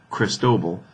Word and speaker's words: Cristobal: have Cristobal here and that's how you say it by the way cristobol in fact let's just